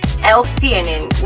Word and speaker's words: L-theanine: the kong they have l-theanine l-theanine we found out that's the way you pronounce this word i actually really like